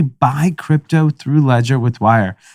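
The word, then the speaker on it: Wyre: crypto through Ledger with Wire. Wire, is spelled a little differently. Not like how you got to keep it hip. It's not hip to spell words exactly correct. It's not W-I-R-E, it's W-Y-R-E.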